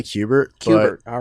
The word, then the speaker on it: Kubert: can get an official ruling on the correct pronunciation. Kubert School or Kubert School? They say Kubert.